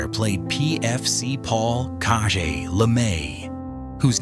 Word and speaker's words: Caje: Pierre Jalbert played PFC Paul Caje Lemay, whose name long-time fans remember is pronounced like Cage. Caje was the French-speaking